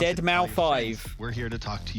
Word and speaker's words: deadmau5: deadmau5 yes that is the correct way to pronounce deadmau5 we're here to talk to you all about